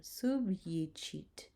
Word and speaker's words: subjicit: You see there that the J has the Y sound, subjicit.